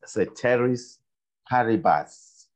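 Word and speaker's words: ceteris paribus: the stem is borrowed from Latin and it's pronounced as ceteris Paribas right the cherries paribus why is it important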